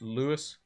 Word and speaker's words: Luis: I think is how you, like, his name is spelled like Luis, but I think it's pronounced like as if it's Lewis.